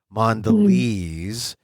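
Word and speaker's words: Mondelēz: big company and mandes m o nde l and then they have the accent over the e or not accent but the you know the the mark over the E so you know it's a long e mandes lez mandes they they're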